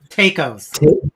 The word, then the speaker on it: taco: mysterious thing called tacos that's how we pronounced it in 1962. tacos rico's tacos yeah rhymed with waco texas yeah you know it's